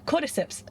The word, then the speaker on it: Cordyceps: Cordyceps, right? Am I pronouncing that right?